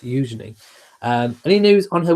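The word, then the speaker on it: Eugenie: Um I I think it's Eujenei, but I I always go to say Eenei, but it's Eujenei. It's pronounced Eujenei.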